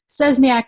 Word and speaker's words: Szczesniak: I'm going to spell it for you guys because Szczesniak is crazy.